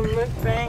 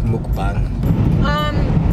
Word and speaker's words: mukbang: I feel like some people call it like a mukbang or whatever. So they don't know how to pronounce it right. It's mukbang.